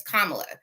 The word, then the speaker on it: Kamala: expressed once you heard how the correct pronunciation of her name from the DNC, that alerted you to say, okay, her name is Kamala.